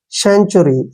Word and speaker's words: century: Next देखिए CENTURY, देखिए C का उच्चारण हम से के रूप में लिखते हैं ऐसे, और N को आधा न पढ़ते हैं। TU का उच्चारण हम यहाँ पर च करते हैं। जब भी TUR आता है, TUR, उसको चर पढ़ते हैं ना, पढ़ते हैं ना, तो TUR को चर पढ़ेंगे ऐसे, और Y का उच्चारण E के रूप में लिखेंगे। सेंचुरी, ऐसे, ठीक है ना।